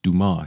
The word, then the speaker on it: DMAS: Firstly, I will replace the Smass earphones with the DMASS earphones, pronounced Dumar in French.